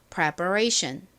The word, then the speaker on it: preparation: ATION의 발음은 AC입니다. A션 그래서 preparation이 됩니다. 자, 준비를 의미하는 단어 발음 따라해 보세요. preparation 천천히 좀 해 볼까요?